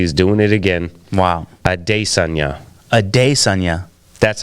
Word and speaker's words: Adesanya: and Ariel Helwani, and he asked him to pronounce his own name. Yeah, because the UFC is doing it again. Wow. Adesanya. That's how you say it. Adesanya. Not Adesanya.